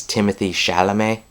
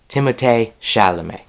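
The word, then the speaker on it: Timothée Chalamet: shalam now I know when you look at it it sounds or looks like it says Timothy shalam um but you actually pronounce it timate shalam um but he's a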